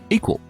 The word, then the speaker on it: EQL: and co-founder of equal that's eql pronounced equal Andrew is a former